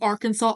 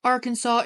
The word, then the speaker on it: Arkansas: Native American word whereas Arkansas is the French pronunciation it just I'm sorry